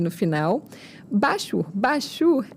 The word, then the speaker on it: Bachur: Bachur é como se fala, é B-A-C-H-U-R.